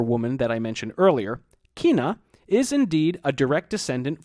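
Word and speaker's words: cwēn: By the time wiba and kwoniz had passed into Old English, they were pronounced wif and kwen respectively, and they both meant woman. If you're thinking that kwen sounds like queen, you're right.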